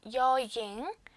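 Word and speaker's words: ญ หญิง: 그래서 제가 여잉 이렇게 동그라미 여로 써놨지만 실제 발음은 Y 발음을 좀 덧붙여줘서 여잉, 여잉이라고 해주시면 됩니다.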